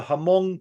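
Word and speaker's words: Hmong: you also have the hamong people is that correct pronunciation hamong or Mong Mong yeah in in Laos I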